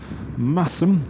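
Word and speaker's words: Masham: So you usually go through Ripon, then we're going to go through Massam, they pronounce it, Leyburn, or Leyburn then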